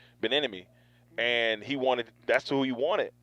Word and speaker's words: Bieniemy: I always say his name wrong, Bieniemy, and that's who he wanted, and they were going to include him on decisions.